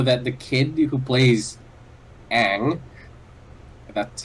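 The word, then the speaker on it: Aang: Even the pronunciation of the main character's name, Ong, and I'm pretty sure Avatar didn't take that either.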